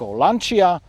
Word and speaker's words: Lancia: But the most common way I came across was that it's pronounced "Lanča".